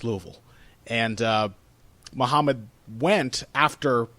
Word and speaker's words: Louisville: Ali was born in Louisville, Kentucky. uh and which they mis mispronounced repeatedly as Louisville, which everyone always does, but if you're from this area, you know it's Louisville.